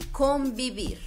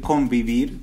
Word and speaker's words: convivir: quiero que identifiquen que cuando nosotros leemos decimos pronunciamos esta palabra la pronunciamos más con un sonido de be the best entonces nosotros decimos convivir si de repente alguien puede decir convivir un poco más cercano al oído de un brasileño pero es muy común escuchar convivir así tal cual correcto y les recomiendo